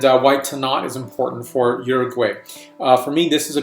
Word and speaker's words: Uruguay: Now this wine is a really beautiful example of what Uruguay, or Uruguay as I like to call it, correct pronunciation, is producing these days.